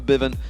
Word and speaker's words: Febiven: it works out for Bivin, who we have been told to pronounce it that way, by the way, if anyone's wondering why we've changed it from Febiven to Forbidden.